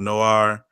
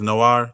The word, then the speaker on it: Noir: That shit is straight fire called Noir. That's Black Movies Noir. That's how you say it? Like a noir film. Oh yeah, like there was a video game like La Costa Noir, Noir.